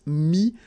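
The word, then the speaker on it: mis: Mi, same advice here, don't pronounce the final S like we had here.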